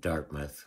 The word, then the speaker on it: Dartmouth: And then I looked after the actual track between Dartmouth, which is Halifax's twin city. Dartmouth, not Dartmouth. They know you're from away if you say Dartmouth. It's spelled Dartmouth, but it's Dartmouth.